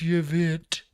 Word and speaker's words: Yvette: Hortman and her husband Mark were killed in their home in Champlin, while Huffman and his wife Yvette, yes, that is spelled pronounced Yvette, suffered serious injuries at their home in Brooklyn Park.